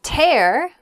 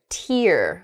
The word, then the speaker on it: tear: of paper in half the same spelling can also make the word tear which is that drop of water that comes out of a person's eye when they're sad or